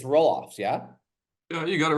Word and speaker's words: Roelofs: Is that how you say it's Roelofs, yeah?